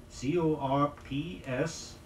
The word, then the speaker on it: corps: forth it's frequently mispronounced the word is still pronounced in the French way that is without sounding the P or the S see the corps of